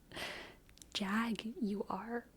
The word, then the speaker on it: Jaguar: yep the fancy PE the fancy car people pronounce it Jaguar that sounds like an insult Jag you are Jag you are Jag